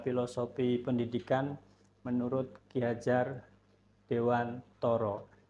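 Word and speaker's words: Dewantara: Jadi di sini Bapak Ibu ada filosofi pendidikan menurut Ki Hajar Dewantoro. Jadi ejaannya ternyata harus Toro walaupun tulisannya Tara.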